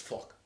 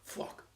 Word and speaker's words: fuck: To say it like a New Yorker, it's fuck. There's almost like an implied W in there. Fuck.